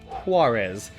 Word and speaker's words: Juarez: I know it's pronounced Juarez, but the fact that whenever I say Juarez, I just absolutely empty my my lungs.